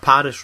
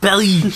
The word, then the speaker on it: Paris: You pronounced Ubisoft Paris wrong. It should have been Ubisoft Paris.